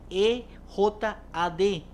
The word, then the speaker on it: Ejad: Ejad se escribe E-J-A-D.